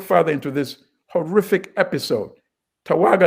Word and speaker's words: Tawergha: Tawaga is spelled Tawergha.